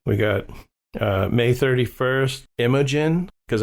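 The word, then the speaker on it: Imogen: got uh May 31st imagin cuz I was saying her name wrong before I thought it was emogene it's imagin imagin Clark who we will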